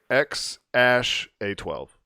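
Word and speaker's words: X Æ A-12: on Joe Rogan today it's X ash a 12 X ash a 12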